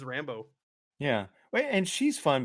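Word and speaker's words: Rambeau: Is it I always just say Rambo. Rambo. I'm sure I'm saying it wrong. Nope. You are correct. It is Rambo.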